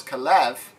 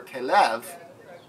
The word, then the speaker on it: Caleb: name from Caleb okay left to Caleb because Kalev means what Caleb means dog where Kalev which is how it's pronounced means full hearted fully devoted or faithful